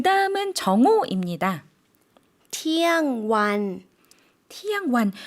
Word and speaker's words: เที่ยงวัน: เที่ยงวัน 티양완. 그런데 괄호에 완이 들어가 있죠. 그래서 일반적으로 태국 분들은 이 괄호를 생략해서요. 그냥 티양이라고만 발음을 해주십니다.